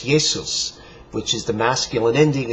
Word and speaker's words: Jesus: So, for example, Jesus in Latin, Jesus, would be pronounced Jesus, the same as the Greek.